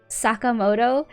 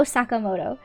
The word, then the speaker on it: Sakamoto: But the way they pronounce Sakamoto. Like I wish they would just go Sakamoto. That's like not correct. But at least like the emphasis on the syllables are decent.